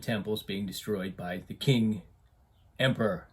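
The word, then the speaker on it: Qing: And I'll pronounce it that way because apparently one of the banners that you see on the wall, if you translate the Chinese, says, "Resist the king, restore the Ming." So it rhymes. So that's the way I'm going to pronounce it.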